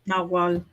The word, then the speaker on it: Nahuatl: Nahuatl. Nawal, Can you spell Nawal. that? Nawal is Nawal. It's I can actually spell it right here.